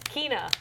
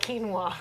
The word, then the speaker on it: Quina: I think her name is Kina, not quinoa. Like the like the grain.